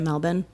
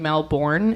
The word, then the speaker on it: Melbourne: you would say it Melbourne oh oh I'm saying it wrong pause please so we just did uh some quick Googling and I have been pronouncing I was saying Melbourne it's melbour so my apologies I